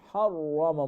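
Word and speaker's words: حَرَّمَ: ইসরাঈলা ইল্লা মা হাররামা, এখানে সিমিলারলি রাটা ফুল মাফ হবে, হাররামা মোটা করে উচ্চারণ করতে হবে।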